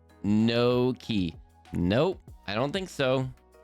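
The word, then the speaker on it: gnocchi: Ganaki is pronounced no key.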